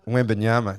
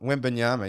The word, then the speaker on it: Wembanyama: Victor Wembanyama. You're finally on board, eh? I've only been bringing him up. Wembanyama, yeah. Wembanyama.